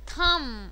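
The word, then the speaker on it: thumb: टूम silent कर दो, थम अंगूठा साइलेंट कर दो, बी नहीं आएगा, थम्ब नहीं होता, थम होता है, टूम होता है, टूम्ब नहीं होता, टॉम्ब भी नहीं होता, टुंग टुंग भी नहीं होता है.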